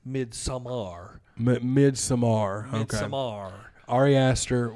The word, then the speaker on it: Midsommar: But Yeah, there's like a uncut version or Midsummer, No, you said it wrong. It's Midsommar.